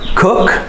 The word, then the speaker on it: cook: say these after me cook cook you need to hear the k you need to pronounce the final consonant of every word cook dig do homework